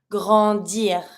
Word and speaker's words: grandir: If I want to say to grow up, I'm going to be saying grandir. Same as usual, I pronounce my R. Grandir.